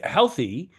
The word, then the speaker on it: healthy: So in this word with healthy, in the word healthy, the base is spelled Heal, but pronounced hell.